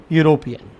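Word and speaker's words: European: जो लिखने में है वावेल लेकिन जब हम इस वर्ड को पढ़ते हैं वर्ड आता है यूरोपियन तो यहां पर आपके वर्ड आ रहा है प्रोनाउंस करने पर य य जो है वह व्यंजन है और हमें पता है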